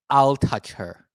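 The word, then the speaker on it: Altucher: So this is how he always tell people to say his name is I'll touch her.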